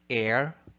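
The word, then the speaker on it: heir: answer is letter b the phoneme h is silent thus we say air honor honorarium exhibit shepherd item number 45 what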